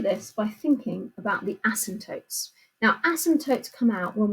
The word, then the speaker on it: asymptote: Asymptote is spelt quite strangely, asymptote. So it's got a silent P in the middle there.